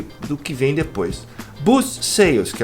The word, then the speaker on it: sale: Sale. Tem que pronunciar o L. Se senão vai virar se não sale.